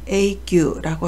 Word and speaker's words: 永久: 음독은 규 또는 구라고 읽습니다. 영구, 영혼을 나타낼 때는 A규라고 하고요.